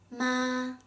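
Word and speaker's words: 妈: With the syllable ma, when you assign the first tone to it, it's pronounced ma with a flat and high-pitched tone. So the first tone is ma, ma, ma. It means mom.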